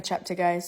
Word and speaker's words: Cheptegei: we missing out the key element Al it's pronounced Rebecca chapter guys sorry we as a society need to get